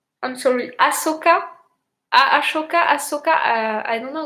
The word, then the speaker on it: Ahsoka: Oh, I can't remember how to pronounce her name. Ashoka. I have Akosha. I'm sorry, Ahsoka.